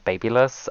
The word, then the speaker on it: BaByliss: comments for this but I pronounce the brand BaByliss I don't know how other people pronounce the brand everyone that I've ever met tells me that I pronounce it wrong I don't give a